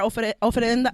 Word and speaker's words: ofrenda: So shout out to Mari, who is dressed to the T today and set up our ofrenda. How do you say that? Oh my God. I Yeah, always say ofrenda.